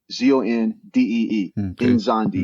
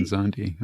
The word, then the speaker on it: Nzondi: It's pronounced like Enzondee. Nzondi. Nzondi.